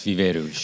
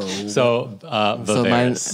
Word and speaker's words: Viveiros: give us the correct pronunciation. Well, if you're in Portugal, it's Viveiros. Okay, well, we're in the U.S. Yeah. So Viveiros.